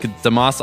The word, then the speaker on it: deMause: now pleased to be joined by Neil deMause, like deMause on the trees and the rocks, as he instructed us how to pronounce it.